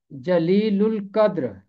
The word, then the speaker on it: جلیل القدر: 2 دفعہ آیا ہے۔ اس کا تلفظ ہے جلیل القدر۔ لام جو ہے لام کے ساتھ جا کے ملے گا، اور الف لام میں لام کی آواز خاموش نہیں رہے گی کیونکہ لام کے بعد قاف حرف قمری ہے۔ جب